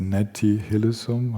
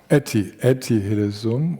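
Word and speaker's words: Etty Hillesum: Glaube diese jüdische Frau, die freiwillig ins KZ gegangen ist, obwohl sie hat fliehen können, die heißt Netti Hillsum. Habe ich das richtig ausgesprochen? Etiesum.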